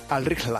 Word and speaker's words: Al-Rihla: El nombre de este balón es Al-Rihla. Lo he intentado pronunciar. ¿Cómo? Al-Rihla. Al-Rihla, ¿vale? Es en árabe, significa el viaje, y en su interior